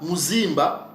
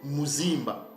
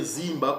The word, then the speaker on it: Mzimba: sœurs donc ces mots-là Mzimba c'est comme ça que nos pères prononcé ces mots là hôtel sanctuaire temple en pierre ou de pierre en forme circulaire il disait Mzimba ou bien on peut aussi dire zimba ou dizimba vous voyez ça et